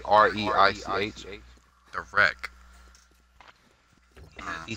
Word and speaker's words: Reich: The Reich. He says it's pronounced Reich.